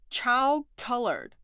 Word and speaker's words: 巧克力: However, when you listen to the pronunciation, chow colored, it sounds similar to chocolate.